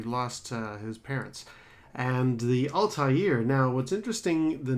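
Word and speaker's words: Altaïr: unusual double dot over the eye indicates it's pronounced as if it was two eyes so it's Ulta year now the one thing that I really really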